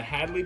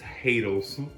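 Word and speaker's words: Haydel's: And this came from the Hadley Bakery.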